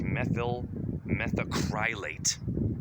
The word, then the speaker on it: methyl methacrylate: methyl methacarylate. I can't pronounce this shit. It's methyl methacrylate.